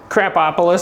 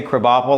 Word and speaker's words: Krapopolis: Crapopolis. Crapopolis. That's easy. I wanted to say Krabopol.